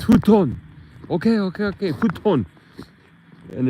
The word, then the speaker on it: futon: can't pronounce these words without hearing the correct pronunciation it's not futan it's futon okay okay okay futon and it's a a